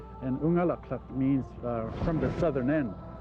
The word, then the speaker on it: Unalakleet: A lot of people think that Unalakleet means where the east wind blows, but the word Unalakleet is actually an Inupiaq word pronounced Unalakleet. And Unalakleet means from the southern end.